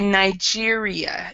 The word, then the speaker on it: Nigeria: noticeable and also um in English uh we pronounce I I know this is uh more closer to your country but we say Nigeria in English so we say the N instead of yeah just a different pronunciation there okay so number 10